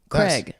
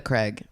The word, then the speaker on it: Craig: Wait, how do you pronounce Craig. it? Craig.